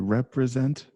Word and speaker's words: Representatives: Representatives. Good. Perfect. Right? Oh, okay. Representatives. Good. Representatives. Representatives. Perfect. Sounds so natural. Good job, right? So the second T becomes almost like a duh pronunciation.